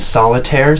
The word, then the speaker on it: Soliterre: He's in like kind of a solo project called Solitaire, spelled like SOLITERRE, Solitaire.